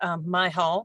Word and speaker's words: Mihal: Hello, and it's Mihal, but that's okay. Everybody mispronounces my last name.